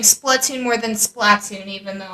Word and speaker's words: Splatoon: supposed to be pronounced Splatoon, as we designated over on Off the Wall, which your two Did favorite... Yeah, we were like, no, it's Splatoon, because there's only one consonant separating it.